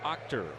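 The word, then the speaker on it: Achter: four the Angels AJ actor it is spelled a c-h-t-e-r but pronounced Octor it's our Chevy called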